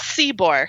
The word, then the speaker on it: Szczybor: So it's Szczybor. You just pronounce it almost like it's Seebor. Yeah, you just forget all the other Just Z's. Ignore. Szczybor. Yep. 2 silent Z's.